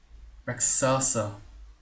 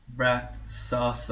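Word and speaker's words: Rakshasa: and the way that you say it is reasa there you go rasa all right so that's apparently the correct pronunciation and he's uh copying all these dudes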